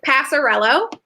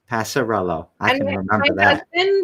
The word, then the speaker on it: Passariello: your last name it's passarello passarello taught me it as it's like past the jello ah which he's gonna